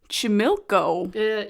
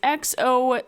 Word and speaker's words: Xochimilco: So, the Island of Dolls is located in the channels of Chimilco. Someone help us with the pronunciation there. Because my Spanish is not good. It is Xochimilco.